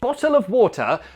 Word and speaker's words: bottle of water: So first, this T can be replaced with a glottal T.